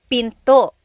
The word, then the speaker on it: pinto: Door in Tagalog is pinto. Pinto. And remember, don't forget the glottle stop. Don't forget to stop the sound at the end.